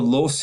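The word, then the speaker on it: Loess: those are called the Los Hills or L Hills it's a German term you got to really torque your mouth around to say it rightly um those are huge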